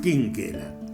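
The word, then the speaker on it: Chinchella: Y después fue adoptado por una familia italiana, Cinchela, con CH, pero se pronunciaba Quinquela.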